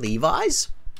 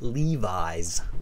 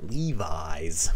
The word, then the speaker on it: Levi's: software developer for a well-known global clothing brand, Levi's. I handle their software back-end system. By the way, notice the pronunciation on this.